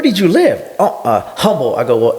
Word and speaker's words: Humble: you live oh uh humble I go well the H is silent so it's Humble Texas and I go and